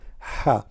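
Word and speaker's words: ح: Ha. Now, how to pronounce letter Ha? Imagine yourself, you are getting cold and you are saying it's cold. That's Ha.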